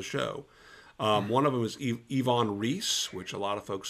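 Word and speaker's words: Iwan Ries: store into the show one of them is yvonne reese which a lot of folks say ewon but the wubble u is pronounced as a v he was a german immigrant so it's ivonne reese and you know what i'm a word guy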